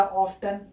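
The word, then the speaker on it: often: हम वहाँ पे ऑफन बोलते हैं या ऑफ्टन बोलते हैं, कोई साइलेंट नहीं है, सीधा ऑफ्टन।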